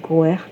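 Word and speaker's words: Gort: As we wander between this world and the next, God, pronounced Goert, is connected to growth and wildness, as well as confronting the mystical aspect of our own development and evolution.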